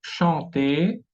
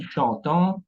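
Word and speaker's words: chantent: Autre exemple, chanter, cantar, il chante, elle chante, ¿ok? Y no il chantant o elle chantant.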